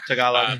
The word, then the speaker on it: Tagalog: I'm going to assume that there are pretty decent, because a lot of our discords usually delve into Tagalog. Is that how you say it? Yeah, Tagalog.